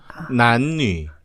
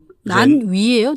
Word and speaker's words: 男女: 난뉘 할 때 거기 뉘슈 할 때 뉘 하면 안 됩니다. 이렇게 입모양이 바뀌면 안 돼요. 우리나라 뉘슈 할 때 뉘는 이게 움직이죠. 뉘 이렇게 바뀌잖아요.